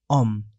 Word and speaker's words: homme: Because homme is singular and starting with a vowel sound. H is not pronounced in French. So, L apostrophe homme, l'homme, the man.